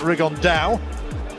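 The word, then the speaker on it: Rigondeaux: about fighting rigond though or as he's correctly pronounced with the uh the Spanish accent rig on Dao and look two absolute Geniuses but it could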